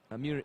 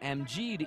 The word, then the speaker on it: Amjid: Amir Isa, or rather Amjid Isa, to pronounce his name correctly, will be stepping in.